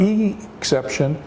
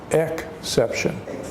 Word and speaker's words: exception: with a vowel sound its is he he is not a long e sound it as a short e sound it's not e-except ssin we say exception so it's a short vowel it's a short vowel